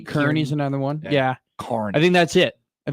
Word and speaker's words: Kearney: Oh, Kearney and Carney. Did you get Carney right the I first know.